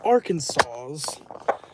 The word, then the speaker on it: Arkansas: It's going to be like the shape of the sky implies he lives south Arkansas's or Kansas. Yeah, I know it's pronounced Arkansas.